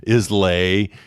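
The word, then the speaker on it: Islay: and so for a long time i was mispronouncing it calling it isla is lay no it's isla is how that's actually pronounced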